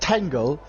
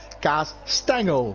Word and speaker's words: Kastengel: Kastengel. Is that how you say it? No, not Tangle. Kastengel.